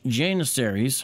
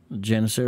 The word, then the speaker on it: Janissaries: Janissaries? I mean, I could be pronouncing it wrong. I say Janissaries, you know, but Janissaries? That's English. I think Turkish is something like Janissaries? Janissari or something like that.